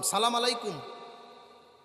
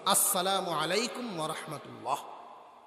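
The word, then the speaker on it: السلام عليكم ورحمة الله: সালামু আলাইকুম। রাজনৈতিক সালাম আছে। একটা। হাতটা উপরে। সালামু আলাইকুম। রাজনৈতিক নেতাদের সালামের সহি শুদ্ধ সালাম হলো আসসালামু আলাইকুম ওয়ারাহমাতুল্লাহ।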